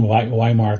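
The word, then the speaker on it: Weimar: associated with what's called viar I pronounce it the German version viar classicism which basically gave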